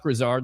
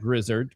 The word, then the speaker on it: Grisard: It's a it's definitely a possibility and when you hire Josh Grisard, not Grizzard Grisard, that's how you say it. That's how TJ Reeves taught me how to say it.